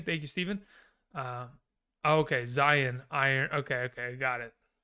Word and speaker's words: Zion: that it is um iron like a lion in zion okay interesting thank you steven um okay zion iron okay okay got